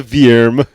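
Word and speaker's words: Vyrm: snakes so is the veerm uh that's spelled v-y-r-m veerm um did you guys like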